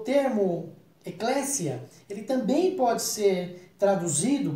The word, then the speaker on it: Eclesia: com o tempo e clécia era um grego original se pronuncia assim mesmo com s com som de s ao contrário do que muitos dos brasileiros fazem vai camisia o eclésia